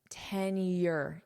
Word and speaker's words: tenure: Notice the pronunciation here. Tenure. Y. You have a Y sound. Tenure. Tenure. Tenure.